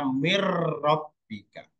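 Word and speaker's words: مِنْ رَبِّكَ: Kemudian ro mirrobbika, ya tulisannya min robbika, bacanya mirrobbika.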